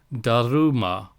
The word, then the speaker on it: Dharma: balanced state of Truth Dharma in India is pronounced DaRuMa or pronounce donu which is a variant of the Sanskrit sound and in China is